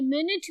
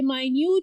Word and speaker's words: minute: Minute, माइनोट, मिनाइट या मिनट, ये मिनट भी होता है, ये माइन्यूट भी होता है। Spelling remains the same but the pronunciation change as it's usage in the specific sentence.